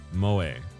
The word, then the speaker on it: moe: Also used to refer to a culture of entertainment centered around characters who possess such traits, pronounced Moe.